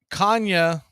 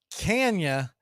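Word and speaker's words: Canha: is the designated hitter Kanye or Kenya as he pronounces it Mark can you is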